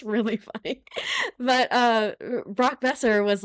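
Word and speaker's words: Boeser: uh Brock Brock BOS how do you pronounce his last name sorry Brock besser Brock besser I always want I always want to go in with a boser and I'm like that's not right um it's bestie yeah bestie uh I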